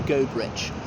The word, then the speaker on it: Goderich: I know some people think it's pronounced Goderich or Goderich, but it's known as Goderich.